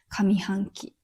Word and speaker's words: 上半期: 上と書いて上というもので、上半期。